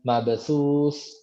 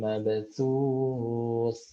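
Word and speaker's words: مبثوث: Jangan mabasus. Nah, dia harus ditarik lagi. Mabasus. Nah, ke posisinya lagi, posisi aslinya. Mabasus, gitu. Mabes. Nah, gitu ya. Huruf sa itu seperti itu. Yauma yakunun nasu kal farashil mabthus. Nah, harus ditarik lagi kembali.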